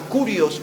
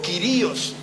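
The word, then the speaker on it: κύριος: En el idioma hebreo se usaba una palabra que era la palabra kurios o quirios. Algunos lo pronuncian de las dos maneras.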